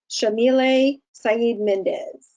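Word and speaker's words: Yamile Saied Méndez: by, I just want to make sure I pronounce her name correctly, the author, Shamile Saeed Mendez.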